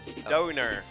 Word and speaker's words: Donor: He says, donor is pronounced like Dona or donor. It rhymes with stoner.